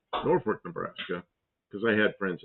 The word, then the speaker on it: Norfolk: it's they pronounce it Norport. Like there's an R in it. Northwork, Nebraska.